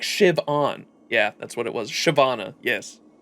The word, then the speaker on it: Siobhan: Shiv-on.